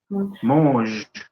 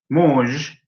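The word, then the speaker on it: muž: Muj. Muj. No, ojo que sonó a mousse de chocolate, sonó.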